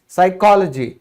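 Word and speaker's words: psychology: फिर है मनोविज्ञान, इसको हम क्या कहते हैं, साइकोलॉजी। तो साइकोलॉजी में आप स से शुरू कर रहे हैं तो पी का कोई लेना देना क्यों नहीं है, इसकी वजह से।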